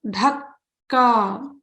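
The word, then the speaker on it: धक्का: So there are ka. It's stressed. So Dhakka. There are two kas there.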